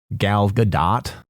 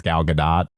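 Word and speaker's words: Gal Gadot: deal with it with Galgadot cuz that's her name. It's Galadot, but even some of her creative people will call her Galado and I'll like watch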